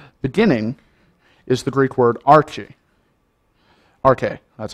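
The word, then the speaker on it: ἀρχή: Beginning is the Greek word arche. Arche, that's how it's pronounced.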